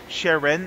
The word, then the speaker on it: Sharon: I want to say to my YouTube audience, this is, of course, Isabel Sharon. Am I pronouncing this correctly? Sharon? It is. Yes, it is.